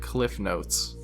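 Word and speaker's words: CliffsNotes: talked to called it Cliffnotes. Now, I can concede that it was always called Cliff's Notes on paper, but everyone pronounces it without the S because it's just easier to spell up, which is why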